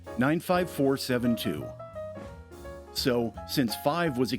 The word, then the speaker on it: 95472: The accent is on the four, 95472.